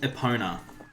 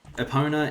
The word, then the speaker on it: Epona: It's probably actually technically supposed to be called Epona, since this is a Nintendo game and it is Japanese, and that's sort of how Japanese pronunciation works, is Epona.